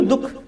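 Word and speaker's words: दुःख: हो रही है बोलने में अब बोलिए तो दुख अब दुख नहीं बोल सकते ह अह का अंग का उच्चारण नहीं ला सकते अब दुक बोलेंगे नहीं बोलेंगे दुक लेकिन आप सीधा क्या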